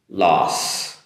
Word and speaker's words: loss: Loss. If anything, it sounds like in Japan, as they say, Los Angeles, the city in America, loss.